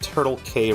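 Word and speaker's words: Turtle Cay: It's called Turtle K Resort in Virginia Beach. It's spelled K with I think the letter C. It says Turtle C A Y. Turtle K.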